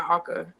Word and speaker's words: Aka: My grandma, I call her my Aka. That's how you say it in the Inupiat language.